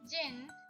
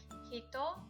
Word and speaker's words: 人: And this jin is really easy, right? And it means person. See? You know now why the kanji for person looks like this. It does look like person, although you'd pronounce like hito.